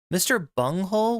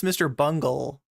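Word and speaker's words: Mr. Bungle: of the western male Mr bunghole was an old school did I say that name wrong did I pronounce that that name wrong I believe it's Mr Bungle I'm sorry chat where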